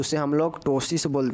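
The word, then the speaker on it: ptosis: तो उसे हम लोग टोसिन हैं क्या बोलते हैं पी साइलेंट है टोस इसको याद रखिएगा पीटोस पी लिख दीजिएगा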